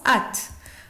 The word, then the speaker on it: âtes: Avec la deuxième personne du pluriel, on met A circonflexe, TES, et ça se prononce at.